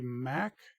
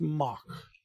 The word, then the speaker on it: Mack: This is a Mack Mock Hypercoaster. A Mock. Mock. It's pronounced Mock. Mock.